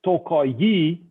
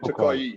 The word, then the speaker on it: Tokaji: a closed voyel so if you pronounce it o not ah it's a closed one kind of like eu